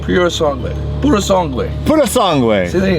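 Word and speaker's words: Purosangue: means th bread in Italian Ferrari SUV yeah pure song way pure song way Pur song way Pur song way see there you goigi s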